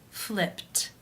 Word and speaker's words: flipped: In the infinitive, the final sound of the verb is p, which is unvoiced. Therefore, it is case 1, and the ed is pronounced as a t. Flipped, flipped.